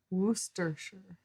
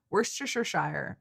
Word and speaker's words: Worcestershire: Okay, so I know it's not Shire, it's Shire when you're talking about like Yorkshire.